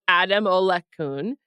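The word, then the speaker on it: Adamolekun: Let me just say his name properly for the camera. They're back with a new CEO named Damola Ademola-kun.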